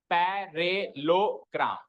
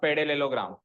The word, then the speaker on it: parallelogram: इसमें ये वाला पार्ट साइलेंट करेंगे हम, कौन सा, डबल LE को हटाओ एक बार, अब पढ़ो, पैरेलोग्राम, पैरेलोग्राम। Okay, double LE को हम साइलेंट मानते हैं इसमें, एंड इट इज पैरेलोग्राम, नॉट पैरेललोग्राम। मतलब पैरेललोग्राम को भी नहीं